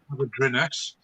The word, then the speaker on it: Hafodyrynys: We moved from there in October last year to a place called Avadrinus, which is near Pontypool. I'll spell it HAFODYRYNYS.